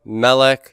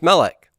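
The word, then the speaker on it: מֶלֶךְ: But what kind of a noun is Melech? Segolets. And segolets are so committed to first syllable stress that even in the construct singular, they keep that accent there.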